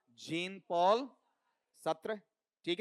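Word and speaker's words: Sartre: यहां पर यह पार्ट जाता है कौन सा सात्रा और यहां पर है भी बोला जाता जब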